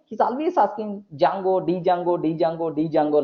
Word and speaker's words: Django: is there the jungle most of the people are going to pronounce jango jango jango that's all go okay like next one